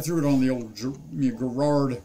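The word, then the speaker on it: Garrard: it on the old gerard or gerard as you know a lot of americans say but uh gerard type a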